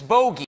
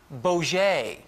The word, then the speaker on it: bogey: I've been told the word is bogey and not Boget.